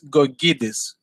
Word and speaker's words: Gkogkidis: the first name was fine it's it's gorgidis i i did the case out but i mispronounced it yep it's a tough one anyway